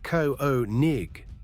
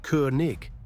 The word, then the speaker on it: König: Americans say Ko-o-nig. Germans say Koenig, that year sound. And again, the scraping ch each at the end.